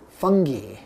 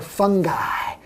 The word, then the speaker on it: fungi: So the solution is to use fungi or fungi or fungi. There's lots of ways to pronounce this word.